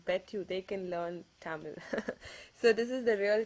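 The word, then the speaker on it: தமிழ்: It's actually pronounced as Tamil. Okay, it ends with that Ra sound.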